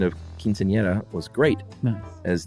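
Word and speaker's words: quinceañera: and your pronunciation of quinceanera was great as the era is a soft R sound um no need to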